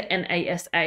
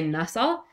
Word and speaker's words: NASA: it's a pronounceable word you don't say n AA you say NASA um I don't even